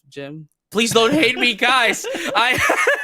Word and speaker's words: GM: I was just about to mention that we might go to a war here, colony war, because I pronounce it as GM instead of Jim.